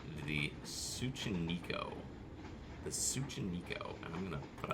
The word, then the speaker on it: Tsuchinoko: I will mispronounce that. It's Tsuchinoko.